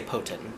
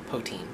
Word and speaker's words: poutine: I think they said it's pronounced they just say potin, but I like poutine.